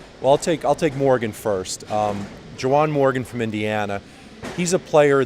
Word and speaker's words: Juwan Morgan: Juwan Morgan, Indiana, did I pronounce his name right? Yeah.